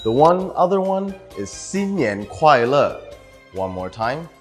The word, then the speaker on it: 新年快乐: The one other one is xin nian kuai le. One more time, xin nian kuai le.